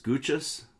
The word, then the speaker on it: Gooches: we have a heading mrs gooches which rhymes with smooches has made her page